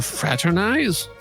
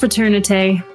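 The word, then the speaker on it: fraternité: Madam Fraternize? It's pronounced fraternite, and it's mademoiselle, not madam.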